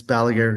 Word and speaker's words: Balaguer: And it's Balager Guitars.